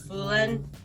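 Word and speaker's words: Fulenn: and aher i i didn't know how to pronounce it but it's foolin um yeah i feel like it's not it's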